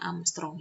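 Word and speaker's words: ångström: Ini satuan Armstrong, ini bacanya Armstrong ya.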